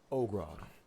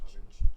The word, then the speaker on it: Ogrod: Ogrod, Pleasure to meet you. of course. And I see you've brought quite a motley crew with you. Can I approach Ogren? How do you say his name? Ogrod.